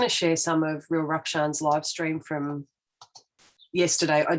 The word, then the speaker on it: Rukshan: So this is again the Real Rukshan. He did say his name yesterday, and I realised I was saying it incorrectly. It's Rukshan, not Rukshan.